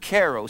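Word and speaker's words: χαίρω: not what it means it's the word karo CH AI ro and it means to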